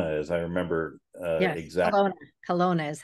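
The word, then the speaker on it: Kelowna: it was col as I remember exactly Colona Colona is how you pronounce it that's okay Colona and so Stacy and Wesley and I have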